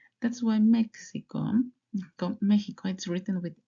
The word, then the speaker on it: México: but I know that Mexico In Spanish is pronounced Mexican. Mexico. Yeah, that's correct. Why? Because Mexico, México, México from comes from the language from Mexico from the original tribos in Mexico.